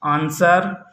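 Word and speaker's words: answer: Rule number 1 है, यस के बाद डब्लू आता है तो डब्लू साइलेंट होता है। जैसे आंसर, सोर्ड।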